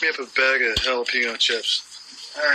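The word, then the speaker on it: jalapeño: Pick me up a bag of jalapeno chips. All right. Jalapeno? What flavor is that? Ricky J silent saying the J is like an H. Ricky Jalapino not gelato.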